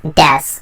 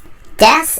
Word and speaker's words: です: Just for now, keep in mind that this word is correctly pronounced as des, regardless of whether or not it has a U in the end. Des is an ending word representing is, am, and are.